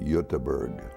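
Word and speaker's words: Göteborg: side where Gothenburg is or they call it yutaberg they landed in the Port of Baltimore about 1875.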